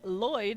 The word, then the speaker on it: Lloyd: Lloyd is pronounced Lloyd. It's why Lloyd and Floyd are considered the same name because it's people just miss hearing it.